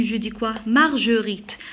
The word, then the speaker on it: Marguerite: Marguerite. Alors pour prononcer le G, j'ajoute toujours le U.